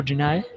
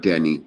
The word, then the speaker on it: deny: one spell it d-e-n-y how do you say that to deny deny not Danny deny yes okay next one